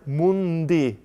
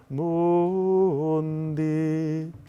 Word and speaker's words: mundi: Mundi. So you hear both the N and the D of mundi.